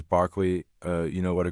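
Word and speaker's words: Berkeley: I remember seeing a Barkley University. You have to say that obviously the pronunciation is Barkley uh you know what a graduate is called.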